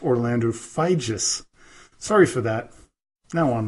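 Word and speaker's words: Figes: was mistaken when I called him professor Orlando figs or fidgets but it is pronounced Orlando feige's sorry for that now on with the show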